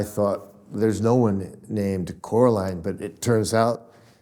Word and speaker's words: Coraline: a French word French name how do you pronounce it we say Coraline Coraline and it it began as a mistake